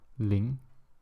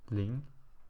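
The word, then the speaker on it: 零: to show you once more and zero is pronounced as Ling so let me go through like 0er to n again so it's Ling E so um that's basically how you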